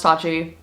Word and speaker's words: Tatchi: can't believe it it's sustainable streetwear it's called pronounced touchy without further ado subscribe if you're new and let's just let's get straight into this video it's pronounced touchy as you guys can probably tell i